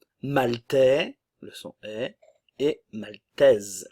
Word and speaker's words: maltaise: le son et et maltaise le E ne se prononce pas la S Swen le S se prononce maltaise la Norvège la